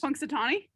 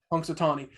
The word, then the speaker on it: Punxsutawney: this what's his first one how do you pronounce his first name or whatever it is punxsutawney punxsutawney i think punxsutawney phil should be the horse